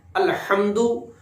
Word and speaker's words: الحمد: تلفظ درست کر لیں۔ الحمد، ہا کو ہم نے ادا کرنا ہے اپنے حلق سے۔ الحمد للہ، الحمد دال کو لمبا کر کے نہیں پڑھنا۔ الحمد للہ، للہ لام